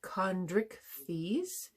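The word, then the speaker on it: Chondrichthyes: that are birds uh the next class is kondrick fees c-h-o-n-d-r-i-c-h-t-h-y-e-s and the best examples of those are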